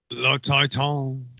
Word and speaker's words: Titane: Le Titan.